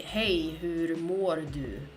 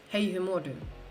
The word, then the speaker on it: hej, hur mår du: We say hej, hur mår du? Hej, hur mår du? That's how we say it.